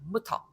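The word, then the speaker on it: Mutter: 이번에는 이것도 아주 쉬운 발음이에요. 그냥 무터 하시면 됩니다. 무터.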